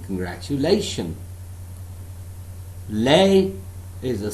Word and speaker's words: congratulation: For example, the word congratulation. Congratulation. I am not saying this word as congratulation. If I say this word as congratulation, that means I am emphasizing all the syllables equally, which is absolutely wrong.